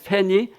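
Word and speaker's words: Fanny: 이야기를들을 수 있을 겁니다 영어 발음으로는 팬이 크로스비라고 하는데 크로스비가 미국 유역에서 태어났는데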